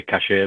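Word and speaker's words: cache: Basically run the company's Cash for IT Solutions. It's spelled C-A-C-H-E for the people who don't know that. So posh people would say cashier, but we tend to be typical Northern cash for IT.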